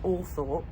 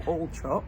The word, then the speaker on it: Althorp: I don't think he's in line to inherit Althorpe or Altrop, however you want to pronounce. I actually saw an Instagram video with Earl Spencer where he said some people call it Altrop and some call it Althorpe.